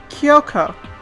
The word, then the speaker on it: Kyoko: you know the silver haired girl oh yeah Yoko yeah that's right that's the correct pronunciation hmm what about her what I took